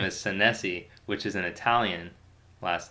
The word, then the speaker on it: Senesi: sensei but my my last name is san se which is an Italian last night I think it's actually pronounced na z is what sometimes Italians tell